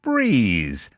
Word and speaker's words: Brez: Meet Breeze, spelled B R E Z, pronounced Breeze.